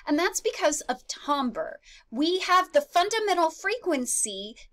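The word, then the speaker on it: timbre: then we have tomber so it's it's not pronounced Timber it's pronounced tomber tomber is our perception of how complex the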